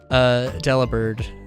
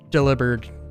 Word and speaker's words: Delibird: think everybody just calls Delibird Delibird, but it's like, but it's literally like take delivered, and just turn the V into a B, and then like phonetically, and then you've got Delibird.